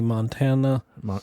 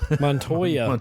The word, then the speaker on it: Montoya: like Amos Tina Tina Black Canary Huntress Renee Montana Montoya always said it wrong Tony Montana from so